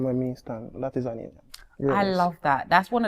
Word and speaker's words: Aneillyon: Hello, Aneillyon.